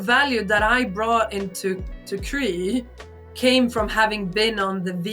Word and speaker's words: Crea: it before me, because I was about to pronounce them cry. Now I know it's Cree.